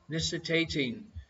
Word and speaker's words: nictating: That's with an I and not with an A. Winking at her. Nictating.